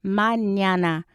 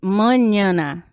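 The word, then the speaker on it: mañana: in spanish we have we have the word manana and the pronunciation is manana just brazilian will sound monana uh i don't know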